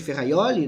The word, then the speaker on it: Ferrajoli: trocado do garantismo do luigi ferrajoli é o luigi ferraioli né na melhor pronúncia que é nullum crimen